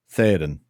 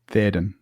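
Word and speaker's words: Théoden: So they should be that should be two syllables. Theodin. Theoden, not theoden.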